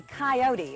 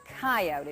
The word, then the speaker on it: coyote: animals around i think this is the coyote or coyote it depends on what part of the country you come from how you want to pronounce it it's a relative of